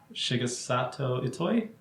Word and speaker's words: Shigesato Itoi: Shigesato Itoi?